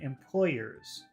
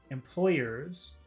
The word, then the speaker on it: employers: So really the only big difference between word number one, employees, and employers is the vowel sound. So let's take a look at number one, employees. Is that a long sound or a short sound at the end? Employees. That's very long, very hard sound. Employees. What about number two, employers? Employers. It's still long because you have ears, the Y.